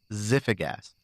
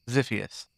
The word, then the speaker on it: Ziphius: This story is titled Everything in Its Place by Ziphigas. Wait, she told me how to pronounce it earlier, and I forgot. Is this the one where you drop the G? Yeah. Ziphius? Ziphius.